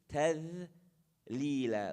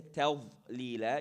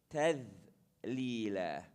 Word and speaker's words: تذليلا: قطوفها تذليلا. The dhal, again, tip of the tongue, edge of the teeth. تذليلا, light. You don't say تذليلا, you say تذليلا.